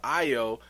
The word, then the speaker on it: Ayo: comes to io um man i really want to call her ayo you know because her name is spelled ayo so i want to be like hey yo but it's really io so we gonna respect the wakanda name but when it comes